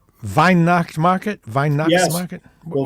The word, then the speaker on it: Weihnacht: Merry Christmas is Frohliche Weihnacht. So, and just remember that W's are pronounced V over there. So it's Weihnacht.